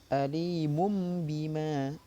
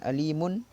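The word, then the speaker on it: أَلِيمٌ بِمَا: Alimum bima. Jadi bukan alimun atau alimun, salah. Tapi alimum bima kanu yaksibun.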